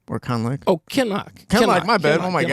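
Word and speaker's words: Kinloch: Conlich or anybody? Like, do you think... What? Not say that again. Conlich? Is that how you say his name? Or Conlich? Oh, Kenlock.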